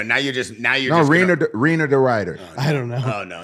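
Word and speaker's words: Reinier de Ridder: It's Reiner D. Ryder. Oh my God. Wiener D. Ryder?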